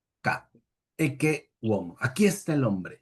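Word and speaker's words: Ecce homo: famosas palabras e omo, que algunos pronuncian eche, eche, homo cuando hay doble s. Ese heche es, digamos, en italiano vulgar, en latín siempre es k e womo.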